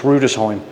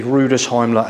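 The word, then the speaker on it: Rüdesheim: see where they actually end it, and it's Rudesheim. It's actually Rudesheim, and all the way up through the Rhine Valley.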